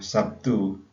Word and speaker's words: Sabtu: Misalnya Sabtu, Sabtu itu kan harusnya kan pakai huruf B, tapi kemudian dalam pengucapannya menjadi P.